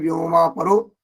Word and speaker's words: व्योमा परो: व्योमा परो, तो यहाँ पर जो है व्योम और पर है, व्योमा वो उच्चारण में उस तरह का हो जा रहा है, व्योमा परो ये इस तरह का हो जा रहा है।